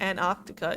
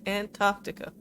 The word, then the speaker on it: Antarctica: That's not how you pronounce it. It's Antarctica. I can forget about that. You can pronounce the T's. It's not Antarctica, it's Antarctica. Anyway, building the station probably cost a lot of money.